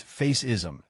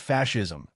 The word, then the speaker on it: fascism: What is faceism? It's pronounced fascism.